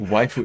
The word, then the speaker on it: waifu: on internet on internet in general it's it's pronounced waifu is it i know oh my god i've